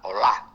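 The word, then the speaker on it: olah: luego aparece Otra palabra que es la palabra Hola eh o L A H H la eh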